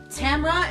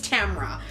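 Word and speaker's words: Tamora: Tempest and slaughter by Tamra Pierce and apparently it's Tamra Tamra is pronounced the same way you pronounce camera or so the internet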